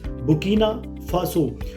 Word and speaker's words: Burkina Faso: में कंट्री पड़ती है पर जो ब्रिटिशर्स है वो इसमें बुर्किना में आर नहीं बोलते क्योंकि आपको पता है जो ब्रिटिशर्स बोलते हैं वो आर को साइलेंट करके बोलते हैं जैसे हम बोलते हैं अमेरिकंस बोलते हैं फादर मदर तो ब्रिटिशर्स बोलते हैं फादर मदर तो वो आर को साइलेंट रखते हैं तो बुर्किना फासो में भी ऐसे ही है वो उसको बोलते हैं ब्रिटिशर्स बुकना फासो तो जो बुकना फासो